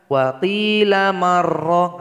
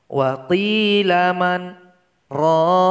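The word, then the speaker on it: وَقِيلَ مَنْ رَاقٍ: melanjutkan dengan bacaan sesudahnya jadi Nun yang berharakat sukun tidak boleh digabung kepada huruf ro ia mesti bisa di sini wafel eagleman roh kok jadi salah kalau dibaca Wati lama roh oleh maroh di berhenti dulu dimana ini dua detik baru disambung ke huruf ro wapli laman roh kemudian biaya 30 adalah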